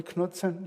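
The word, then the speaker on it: Knudsen: excite we well know the Knutson am i pronouncing it correctly Knutson yeah the KK is pronounced right even though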